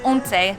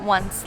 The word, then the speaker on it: Once: We're starting off at a place called Ownsay, not once like I kept calling it. Yeah, they even say right here, Ownsay, Ownsay. because they know everyone's going to mispronounce it.